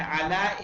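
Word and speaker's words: على: Note that the final ya which is pronounced alif has no dots. So fee is fee and ala is ala.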